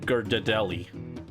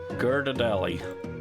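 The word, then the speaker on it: Ghirardelli: Gadelli. I know that's not how it's pronounced, but it's funnier. Geradelli, I love Mario Odyssey.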